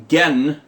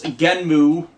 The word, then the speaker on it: Genm: He steals it from Genmu, Genm. That's how people are spelling it. It's spelled with the characters for Ge and Mu, so might just be Genmu, might be Genm with the oo sound gone, and the show hasn't started yet.